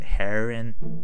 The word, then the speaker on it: Heron: you're probably gonna be more higher than me yeah also how do you say your name yeah like it's like a heron Heron okay cool